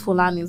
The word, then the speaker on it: Fulani: The only people I can understand the whole culture thing from is Fulanis.